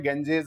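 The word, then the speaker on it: Ganges: valley बोल रहे हैं लेकिन इसका प्रोनंसिएशन अगर हम देखेंगे तो कई जगह प ग इसको बोलते हैं गेंजेस वैली ठीक है ना गेंजेस वैली बोला जाता है इसको ठीक है तो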